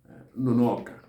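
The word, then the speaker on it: nnunu oka: So the people call it Nonoka. Nonoka. That's the intonation in which is pronounced.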